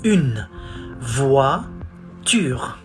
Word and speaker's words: une voiture: We say une voiture. Not tour, voiture.